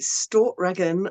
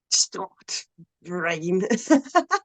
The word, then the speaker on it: Stortregen: black metal band called well, I pronounce it Stortregen. I think the actual pronunciation of it has like a glottal stop in it, so it's like Stort Rain.